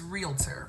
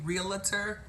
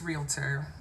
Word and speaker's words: realtor: sells houses how do you say that it's realtor write this and I'm gonna give it to